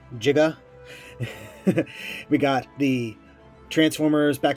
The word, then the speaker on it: Giga: Remember, it has to be pronounced Giga.